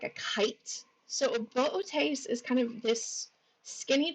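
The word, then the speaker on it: Boötes: So some people, and I myself included in this, will pronounce it booties until I was corrected by a supervisor many, many years ago and told actually it's Bootes.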